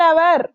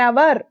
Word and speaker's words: hour: And always use half an hour, half a hour kaadu, half an hour, okay, HOUR, H is silent there, that's why here we are using an.